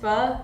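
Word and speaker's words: phở: it inail uh my favorite Vietnamese dish is f and it's a like a noodle soup and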